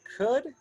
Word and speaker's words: could: modal there somewhere so we do not pronounce the l all right just remember that we say could and then how do